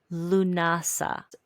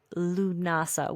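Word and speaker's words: Lughnasadh: So that brings us into Lunasa. Lunasa, which looks spelled nothing like how it's pronounced.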